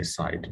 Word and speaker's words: SIDH: Some people say side, but I just say SIDH.